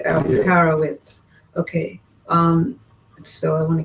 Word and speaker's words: Alperovitz: I don't know if it's supposed to be pronounced with a V or a W. It is spelled with a V. With a W, Alperovitz.